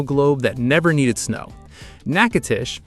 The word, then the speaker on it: Natchitoches: Natchitoches, and let's settle it now, the locals say Natchitoches, was founded in 1714, 4 years before New Orleans existed.